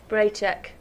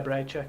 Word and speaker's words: Bracek: That's another name that I didn't know how to pronounce. Braycheck. Yeah, Braycheck.